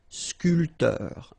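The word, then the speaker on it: sculpteur: scul same thing here this P here is not pronounced so scor and scor sportif so remember when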